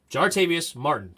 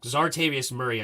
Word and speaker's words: Jartavius Martin: no jartavius Murray Quan Quan not Murray Martin jartavius Martin good I got all his name wrong zartavius Murray I just called him way off jartavius Martin